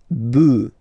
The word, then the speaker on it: bœufs: just add this S, but then pronunciation changes quite much, because you get des bœufs.